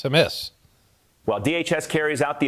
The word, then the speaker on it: Hamas: Like, Hamas, not Hamas, it's Hamas.